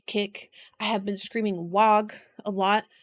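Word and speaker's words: Waaagh: I know recently on my orc kick, I have been screaming wag a lot. I have been told that the G is silent. I don't believe in silent letters. Wag.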